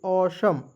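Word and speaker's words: awesome: ए डब्ल्यू ई एस ओ एम ई तो क्या पढ़ेंगे दोस्तों? असम पढ़ते हैं। इसे असम अ श म देखिए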